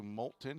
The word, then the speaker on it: Moulton: from Coastal South Community College that's how you pronounce Moulton I drive through there on my way down